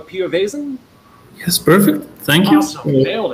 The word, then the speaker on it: Piovesan: have and i'm going to say your name wrong pio vasen yes perfect thank you nailed it uh and